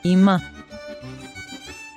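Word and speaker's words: אמא: the e of igloo so because all f is a silent letter we pronounce the vowel sound indicated by the nickled sign under it and note that there is a nickled sign for the vowel ah under the letter ma'am so we pronounce the m sound with an ah that's why we say ima ima now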